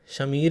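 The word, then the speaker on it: Shameer: हैं, और शमीर मोहम्मद, शमीर ही है वो, समीर नहीं है, स्पेलिंग SH है, तो इसीलिए बोल रहा हूँ, वो इस फिल्म के हैं एडिटर।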